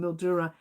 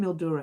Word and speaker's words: Mildura: I keep saying Mildura. It's actually Mildura, isn't it, Susan? I know I say it wrong, don't I? I do say a lot of things. And I even say Melbourne. And I'm not even from any other country. I was born and raised here. Melbourne. I think I say Melbourne for fun. But Mildura, I don't know why I say it like that. I believe it's Mildura.